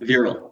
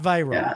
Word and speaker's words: Viral: it's say your name is it veral veral veral okay veral yeah yeah okay not viral okay my bad not viral not like the viral infection although that's where that's